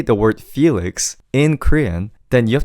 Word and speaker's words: Felix: So, Felix is the right way to say it.